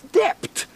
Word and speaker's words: debt: should say doubt, debt, when he should pronounce dept, D-E-B-T, not D-E-T.